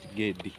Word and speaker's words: Gedi: You pronounce it Gedi. Oh, Gedi. Gedi is not Gedi.